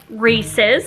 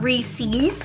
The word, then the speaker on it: Reese's: me these are Reese's holiday lights and it's pronounced Reese's not Reese's watch any commercial they say that's of their